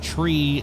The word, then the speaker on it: three: ner tree let say tree now I want to explain that that is phonetically correct uh instead of five you'd say five instead of three you'd say tree nine is Niner uh